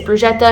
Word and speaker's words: bruschetta: Another staple at the Florence or anywhere in Italy is bruschetta, if you don't know what that is, or bruschetta. I pronounce it wrong every time.